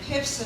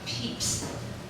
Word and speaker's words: Pips: wife, and of course he always reminds me I mispronounce it, it should really be Peeps, but at my age, it's much too late to change how I pronounce Pips.